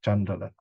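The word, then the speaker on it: caṇḍāla: In India, the word is chandala, okay, outcast. This is an English word, so you have a CH, whereas in Pali and Sanskrit, there's no H, it's just C, but it's pronounced as chandala.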